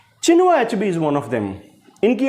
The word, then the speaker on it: Chinua Achebe: चिनुआ अचेबी ये नाम बोला जाता है इनका।